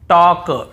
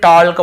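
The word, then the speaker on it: talk: यहां पर भी हम टॉक टॉक वॉक वॉक चॉक चॉक यक यक फॉक फॉक ऐसे पढ़ कहीं पर भी टॉल्ट वाल्क चालक यल्क फॉल्क नहीं पढ़ रहे हैं लेकिन य गलत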